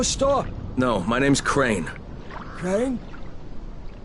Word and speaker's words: Crane: Crane? Crane rhymes with train, and brain, and sane, and grain, and rain, and plane, and the other kind of plane, and...